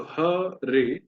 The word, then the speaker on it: हरे: हरे, तो ह रे, रे में एकार है और ए दीर्घ है, इसलिए ए में थोड़ा समय देना है।